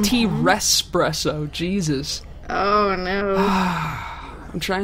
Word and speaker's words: T-Rexpresso: T-Rexpresso. It's pronounced T-Respresso.